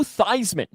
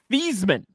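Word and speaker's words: Theismann: And Joe Thyman changed the way his name was pronounced in college so it would rhyme with Heisman. Before that, it was pronounced theman.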